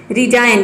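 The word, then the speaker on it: resign: रिजाइन, रिजाइन means होता है त्याग पत्र देना। फॉरेन, इसको प्रोनाउंस करते हैं फॉरेन, फॉरेन मीन्स होता है विदेश।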